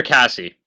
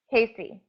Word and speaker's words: Casey: Casey or Cassie? Casey, Casey. Okay, so Casey.